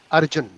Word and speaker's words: Arjuna: Yeah, Arjuna, I don't think so there is any word like that, but you say Arjun, it will be a correct pronunciation.